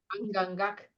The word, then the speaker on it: Angangak: Anya, help me say his name properly. Angangak. Is that how I say it? Angangak. Yeah. Angangak is going to be